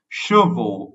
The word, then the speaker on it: chevaux: That means hair in the plural form, and the pronunciation is cheveux, but this is chevaux, which means horses.